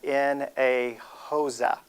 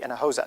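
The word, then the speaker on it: Hinojosa: ask the same question where do you get water from and you just say in a HOSA okay in a HOSA that's where you get water from so that way you know how to say my name all right everybody practice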